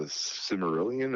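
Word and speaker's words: Silmarillion: And on top of that, they have this thing called the Cimmerillion. Is that how you pronounce it?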